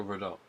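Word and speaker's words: Verdoux: But Monsieur Verdot. Monsieur. Yes. Monsieur. Verdot. Don't pronounce the R at the end.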